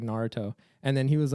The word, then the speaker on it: Naruto: like it's not no he goes like narotu and then it's like bro it's like Naruto like you if you